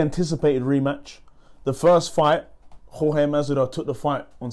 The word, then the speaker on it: Jorge: Jorge Masvidal. That's how you say it. Jorge. Can't say it the English way. You gotta say it the Cuban way, the Spanish way.